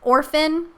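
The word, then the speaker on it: Orfn: art in general, you may know the artist Orphan. It's spelled O-R-F-N.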